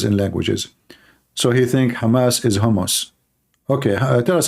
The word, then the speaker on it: Hamas: hamus hamus terrorist Trump he do not know how to say the word Hamas he called him hamos he just called Hamas hos Hamas what Hamas okay so yeah well